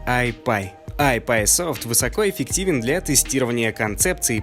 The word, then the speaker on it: iPi: I — это мнимая единица, P — это символ P, но по-английски он произносится как iPie.